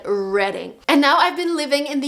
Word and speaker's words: Reading: Like, I remember there was this town in the UK that was spelled like reading, like the actual verb. But for some reason, native speakers said reading.